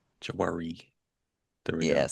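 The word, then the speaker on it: Jwari: JW Marriott, a Jawari.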